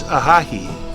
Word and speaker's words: Ojai: Ojai is from the Chumash word. It's Ojai is the real pronunciation.